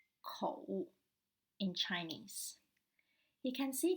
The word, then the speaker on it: 口: It's about the Chinese character for mouth, and it is pronounced as 口, 口 in Chinese.